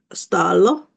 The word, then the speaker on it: Stalo: famous ones is this giant called stalo doing the Swedish pronunciation there so he's a